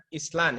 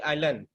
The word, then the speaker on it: island: saja yang salah pengucapannya itu bukan Island ya tapi Allen ya ini lagi satu